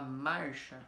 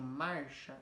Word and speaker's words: marcha: Se eu falar marcha, olha o tempo que eu demoro, mar, e o chá é bem curtinho, marcha. Então, esse mar é a tônica, o chá é átona, tá bom?